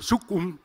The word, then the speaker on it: Suku'un: mi pronunciación pero bueno su cum se debe pronunciar parecido a esto quiere decir el hermano